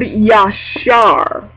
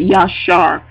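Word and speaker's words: ישר: I'm pronouncing that right yashar it's a y a s h a r and the and the Phanatic spelling is y a w- s h a r with the emphasis on the r and it means Amen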